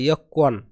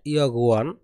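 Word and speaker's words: 여권: এর উচ্চারণ কিন্তু হবে ইয়কওয়ান, নট ইয়গুয়ান, এর উচ্চারণ হবে কি ইয়কওয়ান।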